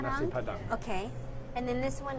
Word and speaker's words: nasi padang: How do you say it? Nasi padang? Nasi padang.